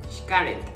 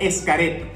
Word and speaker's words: Xcaret: Xcaret. Es muy conocido como Xcaret. Pronuncian ES. Pero tiene como una CH, ¿no? Como Xcaret. Se puede pronunciar de las dos maneras, como dice Carlos.